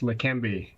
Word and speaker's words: Leqembi: He's got a national and international reputation, and he has spent decades researching drugs like Leqembi. Good morning, Dr. Burns. Did I pronounce it correctly? Yes, Leqembi.